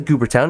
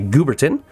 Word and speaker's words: Gooberton: Looks like it says Goobertown. It's actually Gooberton. Thank you for correctly pronouncing that.